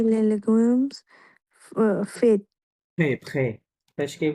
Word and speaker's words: frais: légumes faits frais, frais, ফ্রেশকে কি বলে? ফ্রে FRAIS, হ্যাঁ? উচ্চারণ হবে ফ্রে, এস ফ্রে সাইলেন্ট।